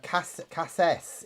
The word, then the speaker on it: cassis: Cassis is how it's pronounced, by the way, according to Chris.